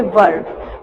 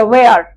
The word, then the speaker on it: were: Then आप यूज करेंगे वर। वर, अब लाइक वर, आपको पता है वर सब लोग लाइक ऐसे कहते हैं वेयर। अब वेयर नहीं, वर की जो राइट प्रोनाउंसिएशन होती है वो होती है वर, WERE।